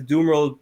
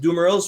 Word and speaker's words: Dumeril's: Is it Dumerils or Dumeril? I've heard both. There is an S at the end of the word because it's the guy who named them, or well, it wasn't